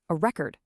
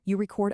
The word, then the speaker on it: record: So if you're using the word as a noun, like a physical thing, you stress the first syllable, an attribute, a record, an object. But if you use that exact same word as an action, a verb, the stress shifts over to the second syllable.